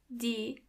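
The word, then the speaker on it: Tiere: animals in German or D. Do you see the e and a in the middle? When they come together after each other, they sound more like E, a longer E.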